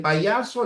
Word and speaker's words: payaso: Recuerden, en payaso la Y vale como una J, pero con sus cachitos sería así. Payaso, ya, payaso. En herbívoro, la H no cuenta.